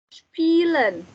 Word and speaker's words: spielen: Ada spielen. Spielen. Spielen. Spielen. Spielen. IE dibacanya I-nya agak panjang.